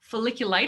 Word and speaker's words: folliculitis: product brightens the skin minimizes folliculitis is that how you say it yeah softens the skin and